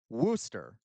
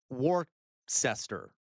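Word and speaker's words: Worcester: Soal, that is how you pronounced it. There you go. Worooster. Okay. Worooster. I agree. This is Worooster, not Warcester.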